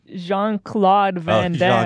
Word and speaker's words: Jean-Claude Van Damme: It's Jean-Claude Van Damme.